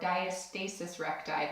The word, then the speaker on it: diastasis recti: of your class on diastasis recti or diastasis recti those are two ways you may have here heard it pronounced the other thing you